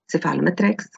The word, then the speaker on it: cephalometrics: When we want to pronounce the whole word, cephalometrics, cephalogram, cephalometric analysis, cephalostat, we usually use the C sound. But when we use the abbreviation, we say CEF.